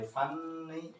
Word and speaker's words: funny: So whether this is n double n, this is not pronounced by funny, but just funny. There is no double consonant in English. We have the written one, but not in pronunciation.